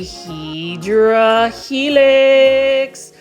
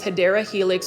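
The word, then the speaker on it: Hedera helix: video without featuring a hedra helix or the correct way to say it is hadera helix or an English ivy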